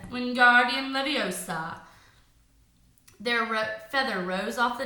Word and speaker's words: Wingardium Leviosa: having much more luck Wingardium Leviosa he shouted waving his long arms for the window you're saying it wrong Harry hurt Hermione snap its Wingardium Leviosa make the GAR nice and long you did it then